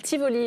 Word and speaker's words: Tivoli: Le parc d'attraction, vous vouliez, ça s'appelle Tivoli, le parc d'attraction. Tivoli, le parc de Tivoli, très sympa. Ça se prononce bien comme ça, hein, je précise.